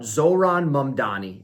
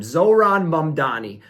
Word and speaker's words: Zohran Mamdani: we are once again going to talk about Zohran Mamdani, and I do believe I'm saying his name correctly this time. Zohran Mamdani.